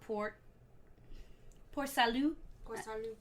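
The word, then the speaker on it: Port Salut: think yeah support so is it port Salud because you don't pronounce yeah unless it's followed by a vowel yeah no so that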